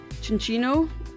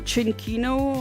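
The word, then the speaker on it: Cinccino: Cinchino? Or Cinchino, I guess, by the Italian way to pronounce it.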